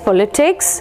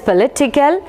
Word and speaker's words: politician: shifts or changes from here it is the first syllable here it comes the second syllable or as per the